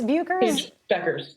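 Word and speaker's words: Bueckers: Is it Buchers? Buchers? Beckers. That's how you say it.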